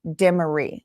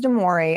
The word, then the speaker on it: Demore: because in my mind, I like memorized her name as Demery, which is not her name. It's not how it's said. So it's like, I don't know, brain muscle memory that I just kept saying Demery. Her name is Demore.